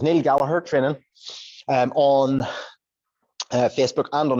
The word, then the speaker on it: Gallagher: It is spelt like the Gallagher brothers of Oasis, but it is pronounced, importantly, Gallagher. There's no, the second G is silent.